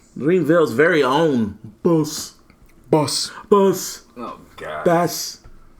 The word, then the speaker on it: Bas: Greenville's very own Boss. Oh, God. Bass. Not purposely. How did you say his name? I was curious about that. Boss. It's just Boss? Mm-hmm. Like Boss, like B-O-S-S, but it's spelled B-A-S?